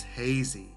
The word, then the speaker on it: hazy: the word a Z sometimes I hear I see Ozzy but it's hazy rhymes with lazy and crazy there's a popular song